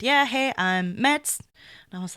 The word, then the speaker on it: Mads: And then the next group had basically gone up already, and the first guy to introduce himself was also called fucking Meds. And it's spelled like Mads, M-A-D-S.